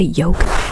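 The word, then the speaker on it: yolk: look at the Oak is spelled with y o l k but when you say yoke you don't really say the L so I'm going to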